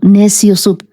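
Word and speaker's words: Neciosup: Y sí, mi apellido es muy peruano, Neciosub. Se escribe N e C i O s U p.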